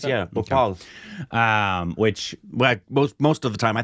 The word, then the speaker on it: Bhopal: Bhopal, is that how you pronounce it? Nice, yeah, Bhopal.